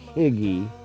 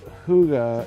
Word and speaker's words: hygge: It's called hygge, but it's actually pronounced, looks like higgy, but hygge is a Danish cultural norm that is practiced quite often with their culture.